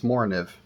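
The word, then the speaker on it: Morakniv: Again, I don't have an example of, not really my flavor, but this Moriniv, yes, that is the correct pronunciation, is the closest thing I have to a straight back.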